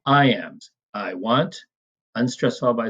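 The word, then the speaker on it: iamb: I am, it's pronounced like I am. The B is generally silent, unless we're making an adjective out of it, as we'll see.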